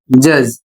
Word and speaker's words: judge: अगला शब्द है JUDGE और इसे पढ़ा जाता है जज।